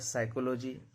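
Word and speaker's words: psychology: इसको पढ़ा जाता है साइकोलॉजी, निमोनिया, रिसेट। आर कब साइलेंट होता है?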